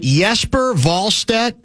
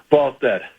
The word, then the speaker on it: Jesper Wallstedt: I believe if you are using the correct Swedish pronunciation, it would be Wallstedt.